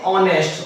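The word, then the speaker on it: honest: सिर्फ यहां पर जो हमारा हा है बिल्कुल साइलेंट है कैसा है साइलेंट तो एन ऑनेस्ट ओके इसलिए यहां पर इनका प्रयोग किया है हमने जहां पर जो पहले शब्द है इसका हा उसे साइलेंट लिए ठीक है यहां पर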